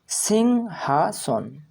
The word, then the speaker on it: সিংহাসন: তাই উচ্চারণ হবে সিংহ সিং হাসন দন্তেস হসই অনুসার সিং হা সন দন্তেস দন্তন সন অর্থাৎ সিংহাসন সিংহাসন হিংসা সা হসই